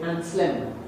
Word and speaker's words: Anselm: Because that even goes to proper names like Anselm. They say Anslem.